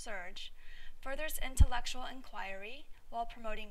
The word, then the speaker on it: SRJ: research Journal also known by its acronym srj pronounced surge furthers intellectual inquiry while